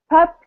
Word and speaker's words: pup: So a similar thing happens with P and B sounds. At the beginning of the word, it's usually okay, but then when it comes at the end of the word, the sounds can sound quite similar.